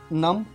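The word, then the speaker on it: numb: को हम बोलते हैं नम या शून्य। तो इसको आप नम्ब नहीं बोलेंगे, नम बोलेंगे।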